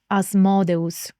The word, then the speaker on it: Asmodeus: And his name is Asmodus if we want to use the Latin pronunciation. Or if you want to use the most the pronunciation that you probably are more familiar with as um an English speaker as modios. I think that's how English speakers say it. But yeah, in Latin it would be as modio.